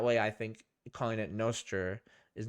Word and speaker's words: Nostr: I'm pronouncing it Nostr in the idea that it's like Nostradamus.